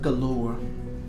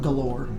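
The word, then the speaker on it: Golorr: They think they can find it by using an artifact called the Stone of Galore. And it's spelled G-O-L-O-R-R. It's not galore, it's Galore.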